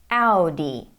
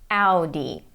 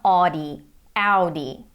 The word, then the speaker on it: Audi: German brand this one Audi Audi this is how it is pronounced in German and this is how most of the world pronounces it but not audio D now this one is